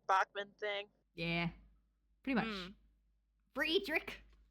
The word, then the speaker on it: Fredrik: Friedrich. Friedick. Friedrich. That's how you say it. He's from Sweden. Don't Americanize him. He's not Frederick.